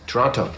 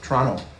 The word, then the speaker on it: Toronto: Toronto. Toronto. Canadians don't pronounce the T.